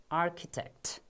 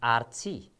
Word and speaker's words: architect: Yes, this is pronounced as architect. Architect, not Archie.